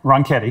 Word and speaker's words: Ronchetti: And then for New Mexico, I can't pronounce his name, Mark. Ronchetti.